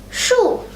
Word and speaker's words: 树: Then it's really just saying shoe, except without the E and double O.